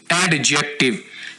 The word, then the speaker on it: adjective: आज के सबक में हम आपको एडजेक्टिव, इसको कैसे बोलना है, इसको आपने ऐसे नहीं बोलना, एडजेक्टिव। यहां पर हमने डी को थोड़ा सा साइलेंट रख के बोलना है।